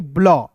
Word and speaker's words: BLUE: उसके बाद देखिए UE है, तो देखिए यहाँ पे एक जो है ई साइलेंट हो जाएगा, और यू का उच्चारण अंतिम में रहेगा, बड़ा उ के रूप में करते हैं, तो BLUE को क्या पढ़ेंगे दोस्तों, ब्लू।